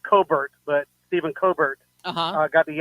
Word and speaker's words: Colbert: Well, the last thing I'll say is, I guess you saw where, and I think his true pronunciation is Colbert, but Stephen Colbert got the axe because they're losing, tens of millions of dollars.